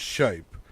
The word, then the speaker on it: Shiepe: I believe it's pronounced Shiepe.